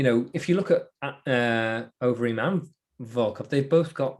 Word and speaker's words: Overeem: Always bugs me when people say Rozenstruik, a bit of Dutch pronunciation for you there. I should say Overeem as well.